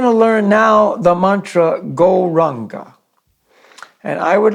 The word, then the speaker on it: Gauranga: So we're going to learn now the mantra Gauranga.